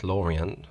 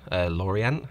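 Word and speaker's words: L'Orient: the French Flagship there Laureen Lorien I think is how you pronounce it it's like the Orient uh Lorien I think is how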